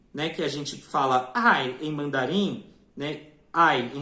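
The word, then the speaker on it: 爱: mandarem a gente pronuncia Ai não é uma palavra de parto e internação e isso em Japonês é pronunciado ai então você vê que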